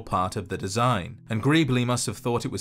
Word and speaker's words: Greeble: NPCs has the name Greebly, spelt with an E instead of a Y, but pronounced the same.